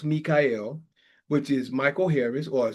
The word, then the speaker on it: Mi'chael: My Facebook is spelled spelled Michael but pronounced Mikael which is Michael Harris